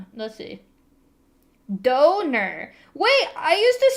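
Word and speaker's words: döner: I Why do you pronounce it like duner? Go. Duner. That's how I was told it was pronounced. Is that Do you say donor?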